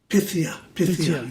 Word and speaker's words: Pythia: I think in the next track, which is called Pythia, do I pronounce this right? Pythia? Pythia, yeah.